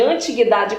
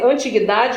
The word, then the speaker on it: antiguidade: Esses gêneros, eles nasceram nesse período que nós chamamos de antiguidade clássica. A pronúncia pode ser antiguidade ou antiguidade.